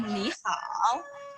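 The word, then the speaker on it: 你好: Jadi pada kata ni hao, ni itu ada pada nada ketiga. Jadi cara pengucapannya tidak boleh ni, tidak boleh. Harus tetap ni untuk yang berarti kamu. Seperti itu. Untuk pada kata hao sama. Hao juga pada nada yang ketiga. Hao, ni hao.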